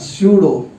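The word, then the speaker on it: pseudo: इसका वर्ड बोलते हैं सूडो। इसमें पी साइलेंट होता है बेटा, ध्यान देना, ठीक है।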